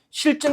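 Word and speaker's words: 싫증: 실증 같은 경우에 발음이 이렇게 되거든요. 그죠? 실증 이렇게 발음이 되는데 지금 의미를 효과적으로 전달하기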